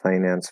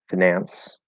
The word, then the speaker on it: finance: about them um i'm also curious do you pronounce the first i and finance financial financial and financier as i uh and